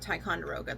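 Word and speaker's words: Ticonderoga: Tyonderoga, that's how you say it.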